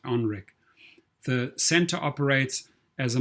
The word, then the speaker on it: NREC: his own company familiar known as nrec pronounced onrec the center operates as